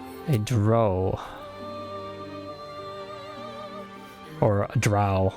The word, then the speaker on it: drow: a dro or a drowl I keep saying dro the drow is the correct pronunciation I believe so the drow so